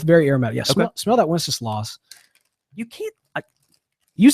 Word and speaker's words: Wenceslas: I think I'm pronouncing that correct. Strauss Tobacconist. Okay, and then also Wenceslas.